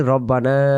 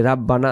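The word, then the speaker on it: رَبَّنَا: আমরা যে দোয়াটি পড়ি রব্বানা লাকাল হাম, অনেকে বলি রাব্বানা, রাব্বানা বলা যাবে না, উচ্চারণ বলতে হবে রব্বানা লাকাল হাম।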